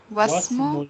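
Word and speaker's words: واسم: But in the next part, alif is followed by a vowel, so I make it silent.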